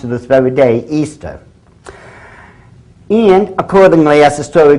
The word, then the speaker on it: Ishtar: Now a lot of people thinks it's pronounced Ishtar. I S H T A R. People check the Babylonian Tour. Once again, it is properly pronounced to this very day, Easter.